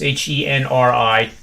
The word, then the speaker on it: Henri: The PGA Tour is playing their final round today because of the weather of, I can't even pronounce the hurricane right. It's Henri. I'm going to call it Henry.